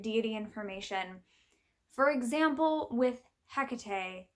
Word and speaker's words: Hecate: information for example with Hecate there are multiple pronunciations of the name so I most readily say Hecate there's also Hecate Hecate um all different sorts of pronunciations depending on the language the actual Greek pronunciation